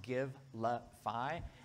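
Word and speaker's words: Givelify: the gimplify app giblify uh sounds just like it's it's spelled just like it sounds give lu fi app on your phone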